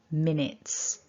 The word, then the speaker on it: minutes: okay so top tip don't say the you it's just a short it in minutes i hope you found